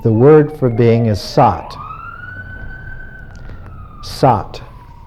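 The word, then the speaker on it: सत्: In Sanskrit, if you wish to talk about being, the word for being is sat. Sat. Sat is phonetically very close to sad.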